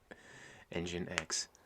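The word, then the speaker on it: nginx: so i can hit 5j yeah json has pronounced jason engine x the ammo is pronounced the same as pain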